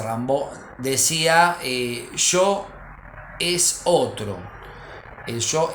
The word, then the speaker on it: Rimbaud: también del siglo 19 Arturo Rambo se escribe Rimbaud aunque se dice Rambo decía yo es otro